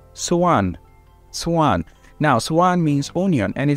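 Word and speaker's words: soğan: also have another word called let me say suan suan now suan means onion and this is actually so a-n so you don't pronounce the G you prolong the E after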